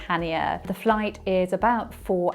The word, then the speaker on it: Chania: Heathrow Terminal 5 to Hanya it's spelled with a c but you actually pronounce it hania the flight is about